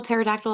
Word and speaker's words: pterodactyl: um Can anyone spell pterodactyl off the C real quick uh PT e no nearly b a c t y l at the end I always forget there's a silent P yeah it's PT e